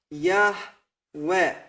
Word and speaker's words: Yahweh: So, this is the true pronunciation of the Creator's name. These are the correct vowels with which we can write down this pronunciation, Yahweh.